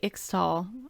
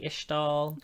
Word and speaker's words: Ixtal: sequestered from everybody the ishtal I always say ixtall I always say the X I feel like it's probably ishtal okay I'm sorry just based on like how